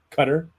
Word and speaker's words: Qatar: I think I learned no matter how you try to pronounce Qatar, you're not doing it right. Qatar? Cutter.